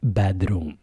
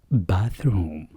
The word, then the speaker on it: bathroom: انتبهوا لنطق الكلمة الأخيرة bath. لا نقول bedroom. Bathroom.